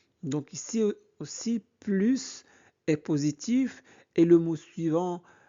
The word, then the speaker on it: plus: Ici, plus de sport veut dire davantage sport. Donc, on prononce le S. Anna, oui, mais je ne veux plus le faire le soir. Ici, plus est négatif, donc on ne prononce pas le S.